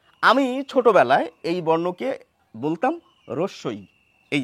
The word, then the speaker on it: হ্রস্ব-ই: বড় হলাম শিক্ষিত হলাম শিক্ষিত বাঙালির মুখের উচ্চারণ শুনলাম সেখানে দেখলাম যে অনেকেই বলছেন এই বর্ণটির নামের উচ্চারণ হস্যই এই হ আগে আনছেন এখন নামও শেখার চেষ্টা করলাম যে না এটি নয় এটি হবে কিন্তু তারপরে জানলাম যে এই বর্ণটির নামের উচ্চারণ এই চারটির কোনটি নয় এই নামের উচ্চারণ হচ্ছে এটি এটি কিভাবে উচ্চারণ করব রস ই বন্ধুরা এই যে উচ্চারণ